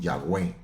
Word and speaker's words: Yahweh: Con el tiempo le pusieron la A de Adonai, la E de Elohim y le llamaron Yahweh, ya Yahweh.